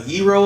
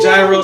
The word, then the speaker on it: gyro: a hero up some say gyro some say hero some say hero yeah I don't give a how you pronounce it you don't say it